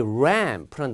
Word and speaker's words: ramp: 그다음 또 중요한 단어 중에 하나가이 ramp란 단어가 있어요. 예. 여기 l 발음이 잘 안 되시는 분들은 여기 앞에다을 집어넣으면 돼요. 이렇게 보세요. 이렇게. 요 R 발음 이제 혀가 천장이나 바닥에 닿지 않고 ramp 이렇게 하는 거.